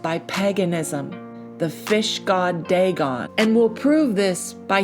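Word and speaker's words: דג: And that word in Hebrew is pronounced dag.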